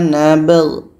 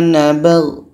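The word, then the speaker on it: نَبْغِ: Ba hukumnya qalqalah, ada pantulan. G pun harus dibaca jelas. Kunna nabg. Kunna nabg.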